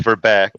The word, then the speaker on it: Verbeek: But imagine baking and Mm-hmm. it's more like verbake. Verbeek.